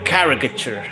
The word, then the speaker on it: caricature: It's a car Let me say it right cuz my accent, right? A caricature, a caricature. I think it's how you how you ladies would say but I say caricature.